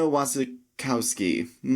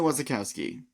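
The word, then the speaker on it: Wasikowska: Mia Wasikowski. That's not how you say it. Mia Wasikowski.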